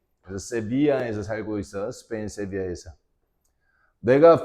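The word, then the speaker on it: Sevilla: 난 디에고 I live in severe 이때 L이라는 말 갖다가 뭐뭐이야 이에 이렇게 발음을 하거든. 스페인 말은 그지? 그래서 세비아에서 살고 있어.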